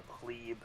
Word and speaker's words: pleb: I thought it was a plebe. It's pronounced pleb. Some people pronounce it plebe.